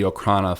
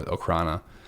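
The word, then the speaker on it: Okhrana: in Russian but um diocrana which are so or Okana or okrana I think it's pronounced more okrana um they're they're the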